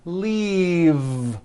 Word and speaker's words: leave: glove alive and leave this last word leave is very different from the word leaf like from a tree which has an unvoiced F the word is leave with a voiced V keep the voicing going